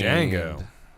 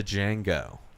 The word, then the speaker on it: Django: shooter versus django unchained django that's right the d is silent da django down periscope which watched